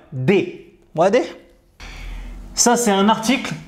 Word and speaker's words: des: دي لا يقال دس ou دس بل يقال دي.